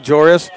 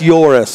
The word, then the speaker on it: Joris: earlier um you know we were saying were we saying joris Galis right yeah it's yoris okay this was in is